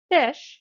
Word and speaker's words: phish: Fish is pronounced just like it's spelled, which is to say, like the word fish.